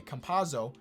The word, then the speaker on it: Campazzo: How do you pronounce this man's name? Campazzo. I just tried to combine his 2 names. Okay, Campazzo.